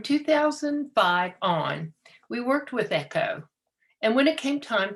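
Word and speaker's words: EKCHO: organization or echo it's spelled weird it's e-k-c-h-o pronounced echo my students and i looked to it as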